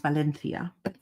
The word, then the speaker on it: Valencia: It's actually pronounced Valencia. We'll just say it the American way.